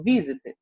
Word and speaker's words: visit: No caso, visit, visit, visit. O vi é mais forte do que o z.